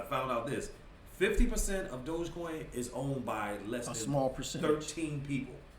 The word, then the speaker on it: Dogecoin: I'm gonna say it right, Dogecoin.